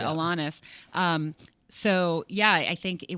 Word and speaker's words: Alanis: I'm going to start saying Alanis now because I've been saying Alanis my entire life, but you know her, so I'm assuming that you're saying it right, and I've been saying it wrong. She's not. She's lovely and not picky. But yes, I want to say it how right. she says it, Alanis.